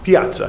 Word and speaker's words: piazza: So then it's pronounced piazza. Piazza, yeah, I was going to keep it layman, but yes, it's Piazza.